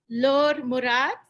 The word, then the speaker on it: Laure Murat: Laure Murat. Hello. Did Hello. tell me the correct way to pronounce that?